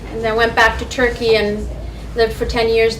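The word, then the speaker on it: Türkiye: say turkey actually um the right pronunciation for turkey is turkey so um when people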